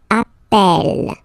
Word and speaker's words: appelle: That's the reason why you pronounce it appel, appel, okay? Appel, appel, appel, and appel.